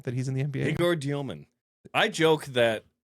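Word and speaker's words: Egor Demin: Which, how do you pronounce Yegor's name now that he's in the NBA? Yegor Dioman. I joke that Yegor Demon is the BYU version of him, and now Dioman's the Nets guy.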